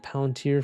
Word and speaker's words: Palantir: Pronounced Palantir correctly?